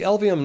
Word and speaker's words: Elvehjem: mouthful of marbles so just remember these three letters L V and M the LVM neighborhood in its elementary